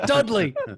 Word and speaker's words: Dudley: Sound it out. It's Dudley.